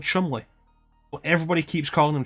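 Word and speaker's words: Cholmondeley: sent to meet at the star is called Chumley what everybody keeps calling and Chaumont let any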